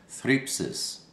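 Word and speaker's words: θλῖψις: It's pronounced thripsis, and it means a pressing.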